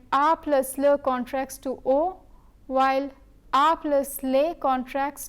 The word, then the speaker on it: au: Both AU and AUX have the same pronunciation, but AU precedes a singular noun while AUX precedes a plural noun.